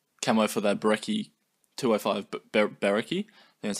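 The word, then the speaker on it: Brecci: Camo for the Berekki 205 Berekki.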